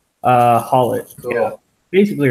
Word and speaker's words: Haulotte: Haulotte? Haulotte.